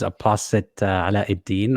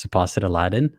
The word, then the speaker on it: Apostate Aladdin: sure um hi everyone my name is aposite deen or pronounced deposit aladdin uh is easier i am an